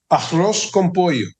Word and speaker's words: arroz con pollo: Arroz con pollo.